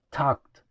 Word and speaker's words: talked: Acá la letra E que agregamos no se pronuncia. Entonces su pronunciación correcta sería talked, talked.